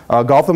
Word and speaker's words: Gautam: Gautam is pronounced as in Batman, Gotham City, right?